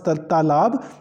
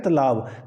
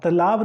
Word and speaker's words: तालाब: शब्द है हमारे पास तालाब तो हम बहुत सारे जो बच्चे हैं वो उच्चारण करते हैं तलाब तलाब नहीं होता है तालाब होता है क्योंकि त में हमारे पास आ की मात्रा है तो इसलिए यह क्या